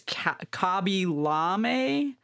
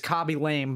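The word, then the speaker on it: Khaby Lame: pronounce his username but i think it's kobi llame i don't think it's copy lame but that's what it's spelled like k-h-a-b-y-l-a-m-e and i think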